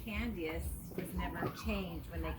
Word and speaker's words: Candias: it's pronounced Candias.